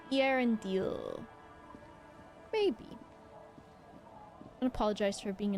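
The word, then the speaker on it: Eärendil: The dots indicating that the vocals next to each other should be pronounced individually. So, Irondale. Irondil.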